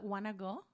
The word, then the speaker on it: Guanajuato: So that you say a hard G in the beginning? No, just think about Guanajuato.